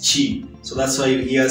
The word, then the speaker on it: QIDI: It's called a QIDI Tech, but when you pronounce it in Chinese, Q and I is supposed to be pronounced as Chi.